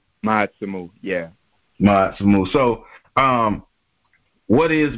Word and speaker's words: Ma'atsumu: It's called Ma'atsumu. Did I pronounce it correct? Ma'atsumu, yeah.